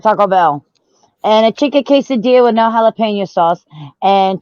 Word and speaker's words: quesadilla: my god so any have you had like the pronunciation wrong it's a quesadilla but they do make it out of quasimodo and an armadillo what the hell yum